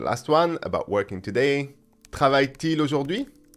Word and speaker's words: Travaille-t-il: Travaille-t-il. And we have a T surrounded by two hyphens, and it appears only to make the pronunciation smoother. It's got no other value than to help the pronunciation.